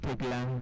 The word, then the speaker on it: Tegla: Tegla, karibu sana. Jina nimepronounce vizuri.